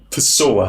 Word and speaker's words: pessoa: J: If you see two Ss in a word, then it just sounds like an S. That's easy. Like the word for person - 'pessoa'.